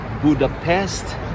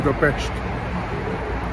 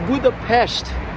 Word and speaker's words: Budapest: Is it Budapest? No. Or what is the correct one? Budapest. See? It's Budapest. Yeah, because the S is a different letter.